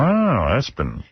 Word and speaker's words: ESPN: And they do pronounce it Espen.